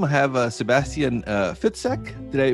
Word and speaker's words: Fitzek: and on zoom i have a sebastian uh fitsec did i pronounce that right yes totally right thank you